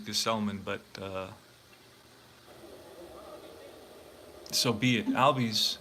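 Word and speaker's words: Gsellman: going to be Robert ghazal Minh they don't pronounce his name right his name is Gus Ullman but so be it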